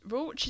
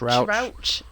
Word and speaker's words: Rauch: Rauch, is that how you say it? Rauch. Rauch.